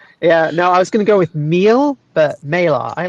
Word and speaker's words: Meile: It's Meila is how you Meila. pronounce it. Meila. Nice. Yeah. Totally not close at all. You're just being kind. Yeah, no, I was going to go with meal, but Meila.